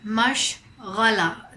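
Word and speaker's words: मशग़ला: This word mashghala, the ghain sound is a bit difficult for American people to pronounce, but you can definitely do it if you practice.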